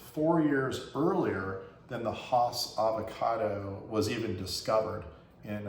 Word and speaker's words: Hass: that that was four years earlier than the Haas avocado was even discovered in uh Rudolph the house is actually pronounced his name hats just like H with a donkey has so